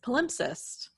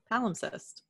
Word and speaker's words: palimpsest: today's topic is palimpsest palimpsest there's two pronunciations Roley al IM p s EST al insist al MPs est mm-hmm so there's an imp in the middle yes and the cest at the end yes once this poem